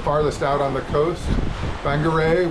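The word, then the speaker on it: Whangarei: out on the coast Banger which is spelled with a wh uh that's a good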